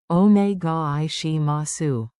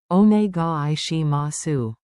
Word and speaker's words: お願いします: Onegai shimasu. Clap the rhythm with me and feel the flow. Count it out. Onegai shimasu. Say. お願いします。 In one smooth breath.